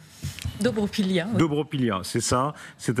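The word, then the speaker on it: Dobropillia: Est-ce que je prononce correctement ? Dobropilia.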